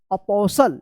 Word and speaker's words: apostle: APOSTLE, क्या पढ़ेंगे, अपोसल। क्या पढ़ेंगे इसको, अपोसल, अपोसल, टी साइलेंट रहेगा।